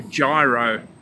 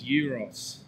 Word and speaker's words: gyro: only got a few seconds to grab a gyro, is what he called them. But the correct pronunciation is euros, and it's Greek.